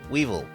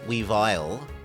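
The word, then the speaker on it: Weavile: see here we go it's not sneez ale sneez they're meant to sound the same sneez Weevil not sneez weile the names are supposed to sound the same because the Pokémon are the same same line anyway you're allowed to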